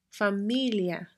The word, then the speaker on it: familia: So the words that don't contain the accent mark form what we call a diphthong between the I and the A, and we pronounce them together as one syllable, one sound that basically ends up sounding like ya, justicia, familia.